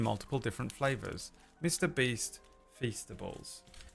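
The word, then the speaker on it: Feastables: Beast Fastables. It rhymes with beast kind of.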